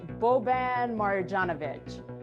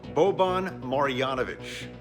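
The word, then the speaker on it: Marjanović: the nba player and nikki how do you pronounce this player's name uh that's boban marijanovic marjanovic ed cohen what do we got you know his name is as imposing as his stature seven foot four bobon marianovich it's bovine i see where you were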